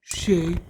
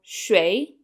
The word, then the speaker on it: 谁: Shén to whom? Benny? There are actually two ways to pronounce shén or shui. Both are acceptable.